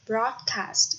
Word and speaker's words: broadcast: Broadcast, cho âm rơi vào âm tiết thứ nhất.